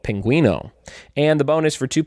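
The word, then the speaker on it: pingüino: how do you say penguin in Spanish it's Pinguino p ing you I and O Pinguino and the bonus for two points name any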